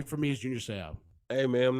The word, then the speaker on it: Seau: It said Junior, and then it would say "Say dash Ow." like how to pronounce his last name.